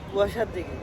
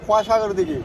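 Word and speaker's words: খোয়া সাগর দিঘি: এটা হচ্ছে কুয়াশার দিঘি। না, কুয়াশাগর দিঘি। কুয়াশাগর দিঘি। ভাই সবসময় শুদ্ধ বানানো উচ্চারণ করবেন, কুয়াশাগর দিঘি।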